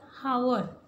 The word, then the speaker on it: hour: So here H is silent.